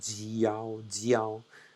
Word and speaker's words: jiao: So alone the pronunciation yao, but if you take, for example, the G, yao, jiao, now we start to make a real Chinese pronunciation.